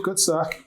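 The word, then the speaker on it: Cutty Sark: esse uísque, que como é que é a pronúncia? Cutty-Sark, é isso? Perfeito, Cutty-Sark.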